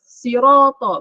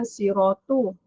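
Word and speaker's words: صِرَاطَ: Sirata, bukan siratu.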